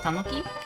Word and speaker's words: tanuki: Oh, he's a tanuki? Yeah, he's in the tanuki suit. How do you pronounce it?